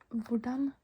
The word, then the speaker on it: hvordan: Hvordan går det? Hvordan går det? You still remember, right? The H is before the V, so we don't pronounce the H.